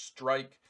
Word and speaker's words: Strike: It's Strike. And that's how you pronounce that. That's how you say it. It's Strike.